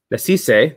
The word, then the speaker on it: Nasisse: And Carlo Nasisse, let me make sure I got my pronunciation guide. Nasisse, there we go, is a director, photographer, and